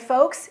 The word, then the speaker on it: folks: the word folks correctly the L is silent and folks is another word for